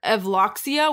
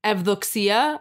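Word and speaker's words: Evdoxia: it's so weird because my name is evducsia but but to people who are not greek they pronounce it ethoxia which is fine the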